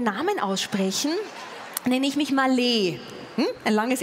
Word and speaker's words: Maleh: Also wenn Sie mich korrekt aussprechen wollen, mein Name ist Malech. Malech. Also M-A-L-E-H, das H hinten ist ein Ech.